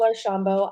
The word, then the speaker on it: Archambault: job with the start of it my name pronounced perfectly great job uh my name is arshambo I'm a speech language program specialist in Broward